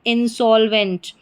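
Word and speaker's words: insolvent: ई एन T went फिर से देखिए आई एन इन एस ओ को सो और एल जुड़ गया तो सोल इनसॉल और वी ई एन T went. तो क्या बन गई हमारी पूरी स्पेलिंग? इंसॉल्वेंट। इंसॉल्वेंट। इंसॉल्वेंट का मतलब होता है दिवालिया।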